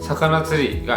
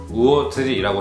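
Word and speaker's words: 魚釣り: 그러므로 원래 낚시 같은 경우에는 사카나츠리가 아니라 우오츠리라고 해야 정확한 표현이라는 거예요.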